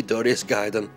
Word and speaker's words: Darius Gaiden: This is Darius Gaiden, or Darius Gaiden, depending on how you want to pronounce it. Actually, come to think of it, the correct pronunciation would be Darius Gaiden.